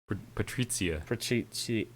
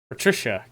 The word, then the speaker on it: Patrizia: I know exactly one Italian, and I know it would annoy him that I pronounce it wrong, and so that's worth it to me.